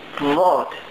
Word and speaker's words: Wort: Wort. Wort. That's right, it's like wart.